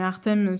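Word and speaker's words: Hartem: Mais Artem, ça s'écrit H-A-R-T-E-M.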